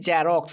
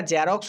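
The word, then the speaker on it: Xerox: জ এর সাউন্ড নয় যেমন আমরা অনেকে বলি জেরক্স কিন্তু এটা জেরক্স না এটা উচ্চারণ হবে জেরক্স জেরক্স জেরক্স একটু ভালোভাবে লক্ষ্য করতে হবে আমরা জেরক্স বলি বর্গীয় জয়ের উচ্চারণ কিন্তু এক্স দিয়ে উৎপন্ন হয় না যেটা জেড এর সাউন্ড সেই সাউন্ডটা কিন্তু এখানে করতে হবে খেয়াল রাখতে হবে এস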